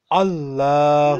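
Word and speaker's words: اللهُ: Allahu. Lahu. Here we will pronounce Alif. Allahu. Yes. Allahu. We pronounce it because it's in the beginning.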